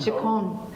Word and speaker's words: Chacon: It's Gloria, how do you say her last name? Chacon. Chacon. So CHACON at loganutah.gov.